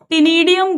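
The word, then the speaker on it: ctenidium: Gills टिनीडियम gills बोलते हैं। इसमें सी साइलेंट है। Silent टिनीडियम gills feather like gills.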